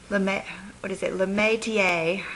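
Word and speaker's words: Métier: Like today, I just, got a little bit of the Metier is the way you pronounce that, Corinthian, and I put just a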